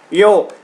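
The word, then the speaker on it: よう: Yo, yo, chứ không phải là ro nhé. Là yo, các bạn kéo dài lên một chút, chứ nhiều bạn là đọc là ro là sai nhá.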